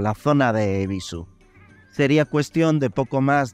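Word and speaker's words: Yebisu: Como pequeñas curiosidades para añadir y hacer ya más redonda esta microhistoria, antes he mencionado que la cerveza se escribe Ebisu con una Y adelante, pero que esta es muda.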